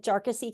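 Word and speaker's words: Jarkesy: jassy case and uh I did kind of try to check the pronunciation for that and it appears from from Mr jassy's uh Council that that's how his name is pronounced so uh this is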